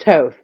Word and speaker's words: Thoth: Toth, like the Egyptian god of wisdom. Thoth. Thoth. It's pronounced Toth.